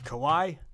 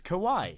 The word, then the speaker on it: Kawhi: too - man that guy how do you pronounce his name kowai kowai kow what it's what it's Kawhi how do you how do you Spencer kWh